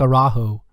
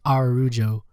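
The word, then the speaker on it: Araújo: good uh our dang I always say his name looks like araujo but it's our rujo was a more accident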